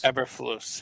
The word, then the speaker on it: Eberflus: Eberflus, yeah.